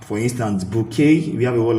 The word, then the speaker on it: bouquet: We know when in most French word French words that ending that sounds A towards the end, they have the letter T, but they are silent.